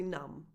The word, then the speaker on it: numb: That final B in numb is silent, by the way, so that's a bonus for you. Comfortably numb.